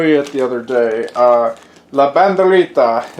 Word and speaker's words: La Banderita: La Banderita, it's just the Spanish way to pronounce it.